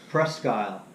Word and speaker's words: Presque Isle: I can't pronounce that thing. I've seen my life. Presque Isle.